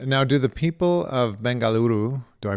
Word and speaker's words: Bengaluru: sad to hear now do the people of Bengaluru do I pronounce that correctly Bengaluru bangaluru much better thanks do the people of your